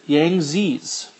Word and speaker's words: Yangtze: Another river system we have is the Yangtze's, is how we'd pronounce it.